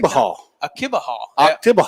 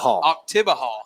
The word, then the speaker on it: Oktibbeha: Do you know how to pronounce it? Oktibbeha. Oktibbeha. There we go. Yes. Oktibbeha.